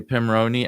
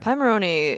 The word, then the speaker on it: Pimoroni: I had been calling it Pimoroni because of Raspberry Pi. Yeah. Turns out it comes from Pirate Monkey Robot Ninja.